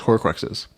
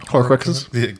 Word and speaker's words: Horcruxes: from the original founders to put as his Horcruxes.